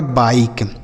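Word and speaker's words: bike: यह लिखा गया आपका बाइक। क्या लिखा है? बाई और किसी भी शब्द के लास्ट में इ रहता है तो उसे हम नहीं पढ़ते हैं।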